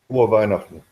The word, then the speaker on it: Frohe Weihnachten: How do you say Merry Christmas in German? Frohe Weihnachten. That's it.